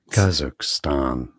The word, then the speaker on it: Kazakhstan: You know, each other in English as Kazakhstan. So that's a stress on the first syllable.